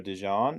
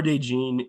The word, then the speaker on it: DeJean: Yeah, Oh, I I think also that's see you forgot about the Cooper DeJean right here, or DeJean. Is that how you say his name? yeah.